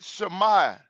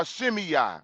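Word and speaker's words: Shimei: We're also going to deal with Shmai or Shimi as some people pronounce his name.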